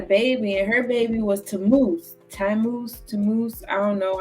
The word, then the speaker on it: Tammuz: So then she had a baby, and her baby was Tammuz. I don't know. I know I butchered that. It's Tammuz.